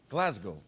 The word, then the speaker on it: Glasgow: the town in glasgow in scotland and it's pronounced glasgow what the hell that's uh that's racist that's